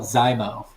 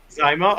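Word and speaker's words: Xizmo: I think it's it's x i z m o I'm not sure how to pronounce that's the name of the company I think they called zymo zaimo okay yeah it's a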